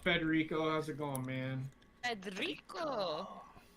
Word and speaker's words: Federico: Federico. Gotta roll your R's.